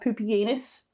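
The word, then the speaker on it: Pupienus: have poopianus and balbinus yes it is pronounced poopyanus that's your latin lesson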